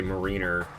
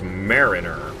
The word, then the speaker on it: Mariner: I'm sorry, I always say Mariner because it's pronounced marine. And then you add an R, and it becomes Mariner for some reason.